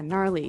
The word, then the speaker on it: gnarly: We heard the ski instructor say gnarly. Gnarly run. Yeah, gnarly. So an interesting word, it's spelled Gnarley. Okay, so, but you don't say gnarly. No, You just- say gnarly.